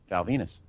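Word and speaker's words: Val Venis: And guy who's been pretty over, is pretty awesome heel, at this point, and that is Val Venus. Rhymes with penis.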